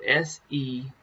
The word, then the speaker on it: Selah: it's in the bible it's called sheila now it's spelled s-e-l-a-h it can be uh see i i pronounce